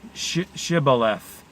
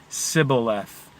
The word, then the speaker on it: Shibboleth: man who crosses to pronounce the key word Shibboleth but says the story in every case he said Cybil f the direful result was